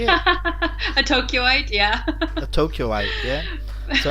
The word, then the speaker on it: Tokyoite: A Tokyoite, yeah.